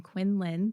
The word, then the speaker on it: Quindlen: I'm here today with Ryan Quindlen. The D is silent.